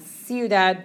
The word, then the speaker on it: ciudad: They don't really have anything to do with each other, but notice it's C-I-U, which produces that S sound, ciudad, but this is pronounced with like a K sound.